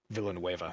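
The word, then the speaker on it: Villeneuve: just came out i don't know how to pronounce his last name villanueva thank you um uh who just uh directed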